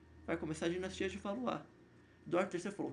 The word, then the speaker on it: Valois: Se escreve Valois, mas se lê Valois.